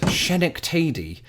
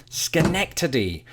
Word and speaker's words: Schenectady: on the first syllable I believe my first guess was shinik teh D it was only while chatting with one of my fabulous patrons that I discovered it's true delivery Schenectady you see the name